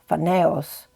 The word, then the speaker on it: Phanes: In the ancient Greek Orphic traditions, the god Phanes, which may be pronounced Phaneos, was hatched from the cosmic egg and created the universe, bringing light to the world.